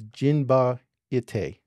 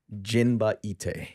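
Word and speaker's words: Jinba Ittai: It's Jinba Ite. Jinba Ite.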